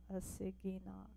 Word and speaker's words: Assiginaak: give this a try a singing knock I think with the double a it's a long a so a city knock okay so she is